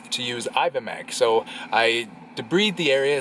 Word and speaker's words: debride: So I debride the area. It's pronounced debride, not debride. Debride's the one you marry.